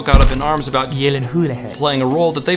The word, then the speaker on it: Gyllenhaal: It's pronounced Yelenhulehe.